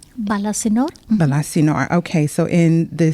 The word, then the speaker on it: Balasinor: read that you were born in is it pronounced balasinor balasinor balasinor okay so in the state of and